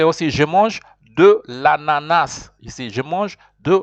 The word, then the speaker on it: ananas: You don't pronounce the end of it. There are people who pronounce it, but normally, you know, the S, you say l'ananas.